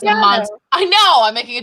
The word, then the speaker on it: Amontillado: No, Okay, it's Amontillado.